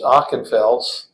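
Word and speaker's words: Ockenfels: o h n and the last name is ochenfels and it's spelled o-c-k-e-n-f-e-l-s Peter is p-e-t-e-r his last name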